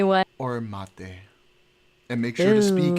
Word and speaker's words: mate: it's pronounced mate.